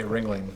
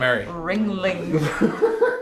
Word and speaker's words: Ringling: all like but then I did was say wringling and then the last then after you said it then you were like Ringling Ringling Ringling ring you're probably pissed off you